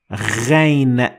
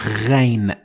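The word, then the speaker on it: غين: And ghain has also no equivalent in the English language, but you can compare it to the r or the French r, as you might have heard it, or the combination of gr in English, the gh, g. That is also the closest I could find for this sound. It's a little bit difficult, but it is ghain.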